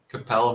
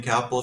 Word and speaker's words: Capel: it doesn't spell uh Capel rhymes with Lael uh not Apple but that's okay you can call me kapple if you want I